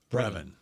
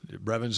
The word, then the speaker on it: Brevyn: Brevyn Ford. Spann-Ford. God, is it Spann-Ford or Spann-Ford? I don't know. It's got two ends. It looks ends. like Spann-Ford. Yeah. Did you say Brevyn? Brevyn. Brevyn's his first name.